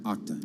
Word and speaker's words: Okta: Okta Inc. Am I saying it right? Yeah, Okta.